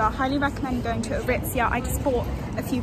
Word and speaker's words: Aritzia: That's how you say it, Aritzia.